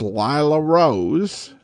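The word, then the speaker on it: Lilla Rose: Well, it is Lilla, but it's pronounced Lila Rose, or that's at least how I've heard it.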